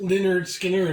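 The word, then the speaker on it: Lynyrd Skynyrd: I just remember that one of the first albums was called pronounced Leonard Skinner, and they had like the pronunciation thing, kind of where the accents go.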